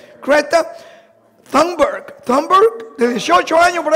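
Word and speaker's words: Greta: De hecho, hay una famosa jovencita, que se llama Creta, así yo lo pronuncio en español, sería más o menos Creta, Creta Thunberg, de 18 años, por ahí más o menos, apenas.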